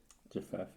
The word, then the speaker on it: Japheth: Japheth, oh, that's how you say it.